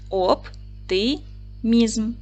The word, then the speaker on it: оптимізм: поділимо слово на склади оп тимізм наголос падає на третій склад о голосний п твердий